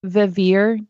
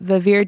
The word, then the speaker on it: Vivir: I think it's pronounced Vivir Design. It's VIVIR Design. And I love the style.